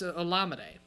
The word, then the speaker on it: Olamide: Or is that pronounced? But it's Olamide.